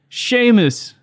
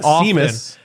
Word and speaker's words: Seamus: show but who else is here him three sheamus my name's sheamus yes it's not not it is mispronounced it's not seamus no i the worst i have gotten is